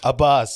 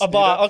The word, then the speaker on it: Abbas: Abbas. Abbas. Okay. That it would be every day because I'm the top of the attendance. It'd be like, how do you? Is it Abbas?